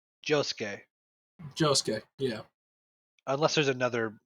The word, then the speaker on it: Josuke: I want to say between Giorno and Jusuke. Josuke.